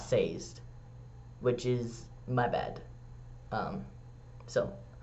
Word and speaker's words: Sazed: I did recently learn that Mistborn, it is Sazed, not Sazed, which is my bad.